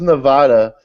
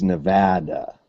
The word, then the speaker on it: Nevada: up Frank how's how's Nevada um in January uh it it's Nevada ah not where I'm from not in Arkansas it's Nevada I can't help how AR Kanas pronounces that Kanas they'll shoot you